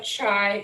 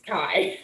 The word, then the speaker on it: chi: pronounce this this is called a chi square test not a chai not a chi it's kai so this is chi